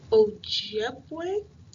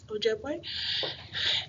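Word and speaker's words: Ojibwe: in her native language I believe you pronounce it o jeway o jeway and her husband made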